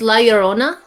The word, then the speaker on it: La Llorona: Okay, so it's La Llorona.